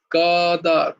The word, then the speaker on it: কদাচন: ক আচ্ছা হচ্ছে আচ্ছা বাংলায় উচ্চারণ হবে কদাচন, কদাচন কদাচন, কদাচন, হ্যাঁ,